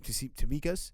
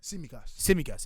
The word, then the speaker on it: Tsimikas: I don't think like, if you're trying to tell me how you say his name, Tsimikas. Tsimikas.